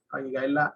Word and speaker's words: Vayigash: Vayigash, Vayigash es la pronunciación, ahí lo ven, se lo estoy señalando en el cuadro.